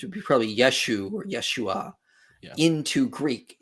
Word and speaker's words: Yeshua: people who are calling instead of saying Yahweh or any like kind of academically accepted pronunciation of the Divine name um they'll say you they'll say yahuwah and uh instead of Yeshua they'll say yahusha and I laugh and